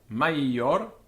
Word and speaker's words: maior: Now, the reason for that is that this I is actually doubled, and it's maior, peius, aio. So it's a long syllable because it's aio, maior, peius. This is the way the dictionaries write it. It's not maior, peius, it's peius, maior, aio.